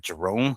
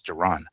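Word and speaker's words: Jaron: forget his name cuz the pronunciation I want to say like Jerome but it's not it's Geron uh Boots Enis um and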